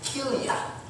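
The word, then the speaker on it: כליה: And how it's pronounced is Kilia. Kilia.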